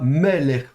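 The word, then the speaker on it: מֶלֶךְ: dans une leçon précédente, c'est le petit accent au-dessus du même, donc ça veut bien dire que l'accent tonique est sur la première syllabe, donc on prononcera meller.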